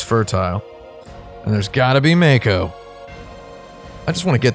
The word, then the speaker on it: mako: the first mako reactor but it's mako japanese word in japanese it's actually too kanji